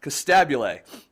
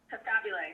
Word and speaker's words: Costabile: I always want to say it right, Costabile. Costabile.